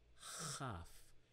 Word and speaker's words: כ: Without the dagesh or dot, it is called not kaf, but chaf, a KH sound, or transliterated CH, but pronounced chaf.